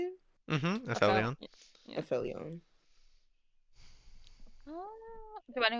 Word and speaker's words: aphelion: Aphelion.